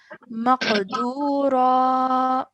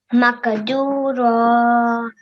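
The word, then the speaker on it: مقدورا: would pronounce it as maqdura. Makadura. Excellent. Well done. Okay. So we're changing the sound at the end to elongate the raw sound for 2 seconds.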